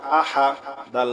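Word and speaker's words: أحد: হা পেশহু কুলহু আল্লাহু হামজা জবর আ হা জবর হা আহা দাল দুই পেশ দুন আহাদুন থামলে হবে আহাদ ঠিক আছে কুলহু আল্লাহু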